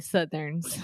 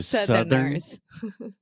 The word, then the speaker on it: Southerners: Can we try the pronunciation of Southerners one more time? Yes. Eu não falei Southerners, I falei Southerns. Yeah. That's why. So Southerners.